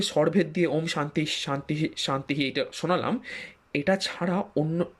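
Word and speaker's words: শান্তিঃ: জন্য তাহলে কি কি হলো চারটি শব্দ ওম শান্তিহি শান্তিহি শান্তিহি এই হলো চারটি শব্দ আর এটিকে যদি আপনি উচ্চারণের বিধি মেনে এবং স্বরভেদের বিধি মেনে করতে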